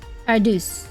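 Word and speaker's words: Paradeus: Paradus pronounces how it's spelled with. Oh, you gotta do Paradus. Paradus.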